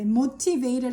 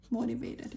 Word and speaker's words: motivated: motivated 발음할 때 motivated 해도 되는데 T 발음 그렇게 주로 T 발음 안 하잖아요. motivated 이렇게.